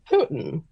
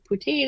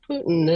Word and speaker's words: poutine: went our server told us it was actually pronounced Putin Putin yes and we were like oh because